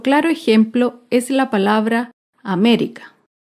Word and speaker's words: América: ejemplo es la palabra américa américa se acentúa en la antepenúltima sílaba américa otro ejemplo es la